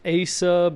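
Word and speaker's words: AESUB: can on this one I think it's pronounced as sub it's AE s u it does great works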